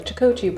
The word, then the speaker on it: charcuterie: Okay, I got us a charcuterie board ready. I'm just playing, I know how to pronounce it.